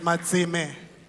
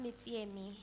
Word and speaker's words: Matsime: Is it Matsime? Am I pronouncing your surname correctly? Good afternoon, honorable members and the House at large. And it's pronounced Mitsiemi, Honorable Speaker.